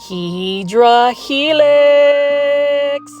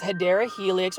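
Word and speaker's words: Hedera helix: video without hearing me say HRA helix or the correct way to say it is hadera helix or what is called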